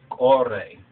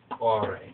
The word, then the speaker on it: ቆሬ: But Bamarinya, we call it Korah, right? Right? Korah, right? Or if you spell it out, a Q, a O, a R, and an E, and that special symbol right there is an A sound, Korah, Kore or Korah.